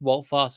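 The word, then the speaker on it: Wout Faes: So we've got the Ward, Castagna, Evans, Farce, Again, everybody keeps pronouncing his name differently. It's Walt Fast.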